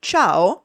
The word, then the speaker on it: ciao: For example, in Italian, the phonology dictates that the letter C is pronounced differently depending on the following vowel. Thus, casa, house, is pronounced with hard C, while ciao, hello, goodbye, is pronounced with a soft C.